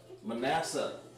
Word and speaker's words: Manasseh: better things just things Manasseh Manasseh made to forget made you guys have wrecked bass to forget okay make you forget that's pronounced ma na siya you may not even